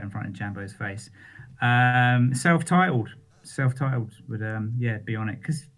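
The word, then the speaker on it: Celph Titled: There's actually a rapper called Self-Titled. What's it spelled like? CELPH.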